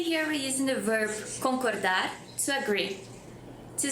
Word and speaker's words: concorda: Or just concorda? Agree? And the answer is eu concordo or eu não concordo. Also, the word concorda has the same pronunciation as with rope.